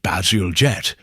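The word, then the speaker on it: Bazalgette: Basilgette, pronounced Basiljette, is a civil engineer already respected for London bridges.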